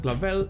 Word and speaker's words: clavel: we can see director clavel which will keep its position from game to game only changing its attire its name clavel comes from the flower carnation which is pronounced clavel in spanish and it is a